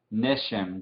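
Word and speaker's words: גשם: Número 13, Neshem con el acento aquí arriba de la primera sílaba. Neshem, lluvia.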